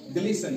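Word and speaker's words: glisten: लिसन पासन एफ ए एस टी इ एन इ एन से पहले टी पासन ग्लिसन जी एल आई एस टी एन गिस्टन नहीं बल्कि ग्लिसन।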